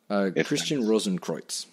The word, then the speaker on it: Christian Rosenkreuz: Christian Rosenkreuz, I think is how you say it.